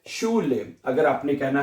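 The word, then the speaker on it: Schule: तो ये बनेगा शीन, यहां तक शीन हो गया, ऊ ले, शू ले, शू ले।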